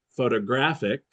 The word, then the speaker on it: photographic: Another example here we have three words photograph photographer photographic. Photograph photographer photographic. But the first one photograph the stress is on the first syllable. Photographer the stress is in the second. Photographic in the third.